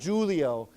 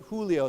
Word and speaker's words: Julio: Um, so of course with this Spanish word, this is pronounced with a H. So, we say Julio, okay? Not Julio but Julio.